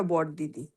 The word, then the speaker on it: বড়দিদি: হ্যাঁ, আমি প্রথমেই বলি ওটা মনে হয় উচ্চারণটা বড় দিদি, বড় বড়দিদি। দিদি নয়।